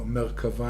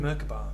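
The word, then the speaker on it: מרכבה: Merkaba. I've heard the Merkaba. Yeah, that's the same word, but only with a B. the way English-speaking people I mean, mispronounce it.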